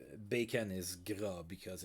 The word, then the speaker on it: Gras: Yeah, Gras. So Gras spelled like that. That's how it's pronounced, by the way, in French.